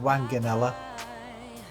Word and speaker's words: Wanganella: I think it's pronounced Wanganella.